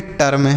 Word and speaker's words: term: TERM इसे हम पढ़ेंगे टर्म, TERM टर्म। FERM इसे हम पढ़ेंगे फर्म। तो अगर ई के बाद आर रहेगा तो इसका उच्चारण अ के रूप में होगा, जैसे हर्ब जर्म टर्म, देखिए अब फर्म ऐसे पढ़ेंगे, ठीक है।